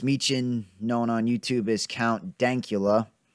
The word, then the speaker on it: Count Dankula: known on YouTube is count dank EULA and that that is important to get the pronunciation right there I've seen a few